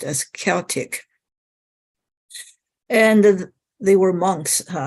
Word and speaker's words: Celtic: Celtic, spelled with a C, is pronounced as a hard C.